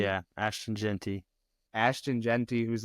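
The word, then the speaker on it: Gentry: get say it wrong is it J Genty Genty yeah Ashton Genty ashon jenty who's like balling out right now up there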